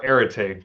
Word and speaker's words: Areté: Now working for Areté.